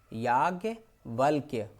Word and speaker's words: याज्ञवल्क्य: याज्ञवल्क्य, आधी ला है और आधी का है, ध्यान दे लीजिए।